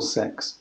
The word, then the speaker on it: CeX: and let me know shall pronounce it CX or six six I think so yeah we're gonna